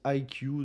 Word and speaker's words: iQOO: Et pour ceux qui auront pas compris, bah la marque se prononce IQ. Donc IQ comme le QI.